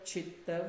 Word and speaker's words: chitta: And if you mispronounce it is yoga chitta vritti nirodha and chitta Changes the meaning. means fire, where you're actually burning the dead body, right?